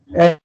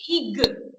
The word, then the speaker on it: egg: Egg. We don't say ig. We don't pronounce it as ig. It is egg. Egg. The sound is egg.